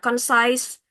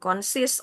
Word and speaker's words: concise: Lalu tadi misalnya concise, bukan consist or something.